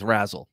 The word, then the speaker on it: Razel: I've heard it pronounced both ways, actually, but I'm going with Razel.